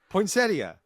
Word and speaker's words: poinsettia: Poinsettia.